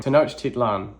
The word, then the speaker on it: Tenochtitlan: There's a lot of words here that I don't know how to pronounce. Oh no! Tenochtitlan. Oh, that's not at all what I was saying. Tenochtitlan.